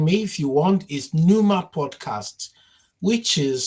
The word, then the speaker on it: Pneuma: So, um, my the quickest way to find me if you want is NUMA podcast, which is spelled as, uh, Papa November Echo Uniform Mike Alpha and podcast. NUMA podcast as in pneumatic.